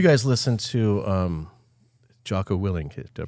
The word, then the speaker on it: Willink: Let's Let's So you guys listen to um Joo Willink. Did I pronounce that right? Is it Willink?